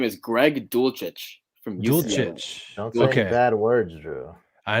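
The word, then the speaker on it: Dulcich: to be called uh his name is greg dulcetch okay bad words drew i know i was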